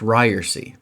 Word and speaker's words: Ryerse: And even this week, 4 times so far this week, I have had to say to someone, it's pronounced Ryerse.